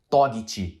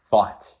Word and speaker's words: thought: ele vê essa palavra, ele pode pensar que fala alguma coisa como tipo Togiti. E não, cara, a pronúncia dessa palavra não tem nada a ver com Togiti. Ela se fala thought.